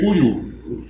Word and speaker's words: Couilou: Ele veio da África colonial francesa com o nome de Cuiu, que se escreve Couilou, com 2 L's, se escreve C-O-U-I-L-L-O-U, e se lê Cuiu.